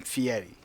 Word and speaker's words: Fieri: and he hates it when people mispronounce his new name Fieri, because he says it's pronounced Fieri. There's no T in there.